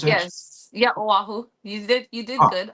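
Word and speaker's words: Oahu: the Windwood side ofu is that how I pronounce it yes yeah aahu you did you did good awesome A+ it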